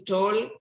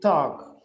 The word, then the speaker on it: talk: my dad will often ask to me to talk about my day that's how we learning to